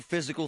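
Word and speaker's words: Fyzical: You want a new physical therapy experience? You want a treatment plan centered on you? Monroeville Physical, spelled F Y Z I C A L, is spelled different, you know, cuz they are different.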